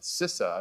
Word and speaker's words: CISA: Uh Matthew Travis is the inaugural deputy director of DHS's newly renamed Cyber Security and Infrastructure Security Agency, uh properly pronounced CISA, I believe, not CISA, SISA.